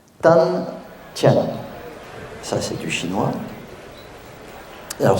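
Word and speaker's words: 丹田: chinois mais en vérité ça se prononce tan comme entre le D et le T et ti c'est comm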